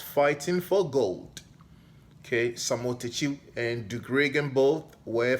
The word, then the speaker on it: Takyi: Well, first of all, the last name is Takyi, Takyi, pronounced Takyi, not Taki.